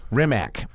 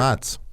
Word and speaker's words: Rimac: And thanks for pronouncing it correctly. Yeah, I love it. People Ramatz. are always like, they're like Rimac. I'm like, no, It's hard. Ramatz.